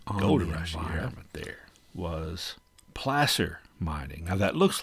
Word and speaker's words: placer: the environment there was placer mining. Now, that looks like it should be pronounced placer, but it's placer. It comes from the same root word as the Spanish word plaza, which basically essentially means